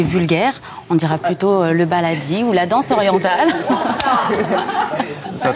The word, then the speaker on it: baladi: B-A-L-A-D-I. Comme ça se prononce. Qu'est-ce que c'est on dit le baladi?